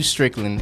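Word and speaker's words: Stricklin: Strickland. S T R I C K L I N. The reason why I spell it out, I be butchering my last name. It's not land. It's L I N.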